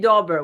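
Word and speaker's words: Daubert: I think right inste it's actually dobert we've had this discussion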